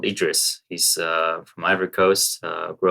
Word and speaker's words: IDriss: too bad, especially when we change the pronunciation from IDRiss to IDRiss, which is much closer to address.